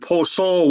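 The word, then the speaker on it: bozho: uh well for greetings we use the word poso which is just a loan word when the french came in they said bonjour but we couldn't pronounce those syllables so it became poor soul so really is that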